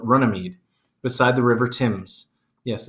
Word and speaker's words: Thames: in a meadow called Runnymede beside the River Thames yes it's pronounced tombs there they insisted that John put